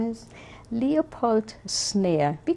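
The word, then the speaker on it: Szneer: Leopold Snare. We call him Poldi. Snare, right. And spell that for us.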